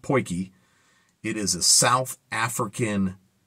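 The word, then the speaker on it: potjie: poy okay it's spelled pot G but it's pronounced poy it is a South African cooking pot it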